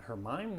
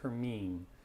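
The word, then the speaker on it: Hermine: know uh it's spelled sometimes people say is it her mind no it's her mean her me her mean so here's our 1pm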